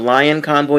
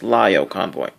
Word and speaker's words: Lio Convoy: the end instead of lion convoy it's lyo convoy honest mistake used to make it